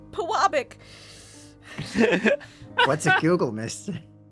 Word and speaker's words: Pewabic: I had a heart attack when I first I had all my southern friends pronounce it. They all said Pewabic. And then I Googled it and thank God it's Puabic.